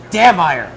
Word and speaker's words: Dammeier: Dammeier. It's not Dahmer.